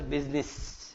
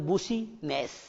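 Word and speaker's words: business: अब आप देखते हो इसको लिखा तो मैंने क्या है, बच्चा पढ़ता है तो बूसी नेस, लेकिन इसका प्रोनाउंसिएशन क्या होगा, बिजनेस, बिजनेस, बिजनेस।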